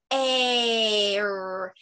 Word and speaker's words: air: A says A, and the I is silent. So air, air.